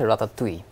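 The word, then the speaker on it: ratatouille: আমরা উচ্চারণ করিতুলি আস ফ্রেঞ্চ উচ্চারণটা হচ্ছে রাতাত তুই তুই যেটা আমি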